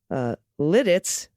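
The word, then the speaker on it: Lititz: In regards to the Central PA town names, Ephrata is pronounced Ephrata. Lidditz was said perfectly, and yes. Lancaster is Lancaster. Okay, Lancaster, I'll say differently, but I got Lidditz, which you know what?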